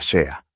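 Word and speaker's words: sidhe: En el mundo hablaron de algo llamado el jeque, que se escribe sider, pero se pronuncia shea.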